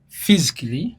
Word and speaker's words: physically: letter is silent kyovula bagamba physically not agamba physically because the A is silent you cut it out tojogera kitegeera potentially mukifo